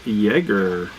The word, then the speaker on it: Jaeger: Oh, she said it's pronounced Jaeger. Nice. Just like Chuck Yeager.